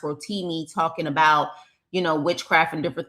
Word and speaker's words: Rotimi: actor from Power, I think his name is pronounced Rotimi, talking about witchcraft and different things like that in the industry.